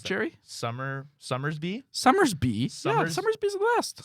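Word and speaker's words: Somersby: How do you pronounce Black cherry? Summersby.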